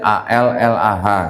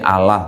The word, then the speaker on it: Allah: Di sini juga ada kata Allah, tulisannya A-L-L-A-H gitu ya. Tapi bacanya di sini Allah, bukan Allah.